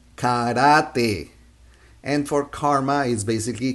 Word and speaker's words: karate: say kajak kajak kajak for karate we say karate and for karma is basically karma karma combination